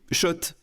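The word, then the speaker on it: Schott: Oui, Shot et pas Scott. Ça fait des années qu'on prononce mal la marque.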